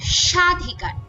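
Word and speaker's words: স্বাধিকার: বা শ্বাস আঘাত পড়ে যেমন সাধিকার এই শব্দের উচ্চারণের শুরুতে একটা ব ফলা আছে তো এই উচ্চারণটা আমাদের অবশ্যই একটু ঝোক দিয়ে সাধিকার এভাবে উচ্চারণ করতে হবে একইভাবে জ্বালা এবং শ্বাস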